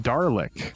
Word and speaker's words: Dalek: They're pronounced Darlick. There's no way it's pronounced Darlick.